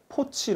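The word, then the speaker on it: 破七: 라는 의미를 가지고 있는데요 것을 우리가 중식 바람으로 포치 라고 하는데요 그래서 포치 는 중국의 경제와 금융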